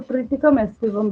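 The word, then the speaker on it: Triticum aestivum: इसका scientific name है ट्राइटिकम एस्टिवम। कई टीचर्स इसको ट्रिटिकम एस्टिवम भी बोलते हैं, कोई दिक्कत नहीं है, स्पेलिंग तो चेंज होना नहीं है।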